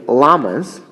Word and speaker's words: lamas: Buddhist leaders are named lamas, not like the animal, pronounced like the animal, but it's spelled with one L.